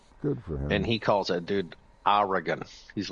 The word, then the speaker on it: Oregon: You know, the the correct way to say Oregon is Oregon. Oregon. Oregon. Yes. You can pronounce E if you want.